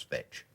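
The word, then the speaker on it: Veitch: on the job fetch v-e-i-t-c-h vetch pronounce fetch yeah yeah so am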